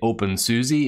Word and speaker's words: openSUSE: GNOME, or Debian, you say Debian, you say OpenSUSE instead of OpenSUSE.